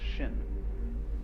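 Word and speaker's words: 心: please pacify my mind in Chinese mind is um this word pronounced shin and shin is here Shin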